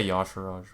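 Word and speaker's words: Y'Shaarj: you pronounce this card you shard okay i also say some people say yash raj but i say you sure okay it's a 10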